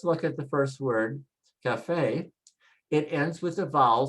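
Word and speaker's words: café: We should say cafe, cafe, but we don't say cafe, we say cafe, cafe, because they changed the rule and put an accent mark to tell you just follow the bouncing ball and pronounce where the stress mark is, the accent.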